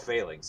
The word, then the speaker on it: phalanx: it's actually called luke no it is called failings yeah i don't know how it's spelled it's i don't know how it's spelled